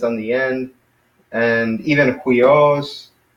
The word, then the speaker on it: huios: And even Huios, it's got the rough breathing mark, so it's Huios, it's not Huios, it's Hui with the H in front of it, so it's Huios.